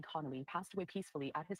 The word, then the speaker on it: Connolly: Connolly.